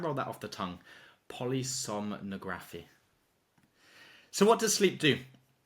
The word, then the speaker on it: polysomnography: It's pronounced polysomnography.